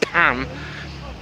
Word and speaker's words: Pain: This is another restaurant that closed down called Pain. Now I know it's meant to be pronounced Pan, but it's spelt like Pain, and it's closed anyway, so.